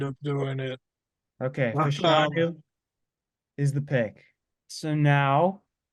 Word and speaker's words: Fashanu: Remember a guy DM'd him asking how to pronounce his name, and he said Yes. Fashanu.